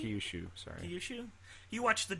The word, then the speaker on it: Kyushu: he's moved to with his relatives in uh Kushi. Kyushu, sorry. Kushu, you watched the dub, so you know how to pronounce these.